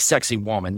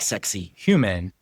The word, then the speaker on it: Saqsaywaman: It's spelled like sexy woman. You're supposed to say it like sexy human.